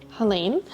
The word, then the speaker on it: Helene: My name is Helene, pronounced Helene, and I am 28 and I have endo, adeno, PCOS, IBS and GERD.